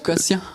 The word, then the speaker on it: Bocaussien: Beau cosen prononce beaucien.